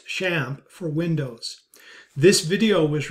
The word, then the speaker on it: XAMPP: video demonstrates how to install xampp pronounced shamp for Windows this video